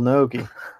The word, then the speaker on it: Naoki: You don't have to enunciate every syllable. Naoki. Naoki. It's Naoki.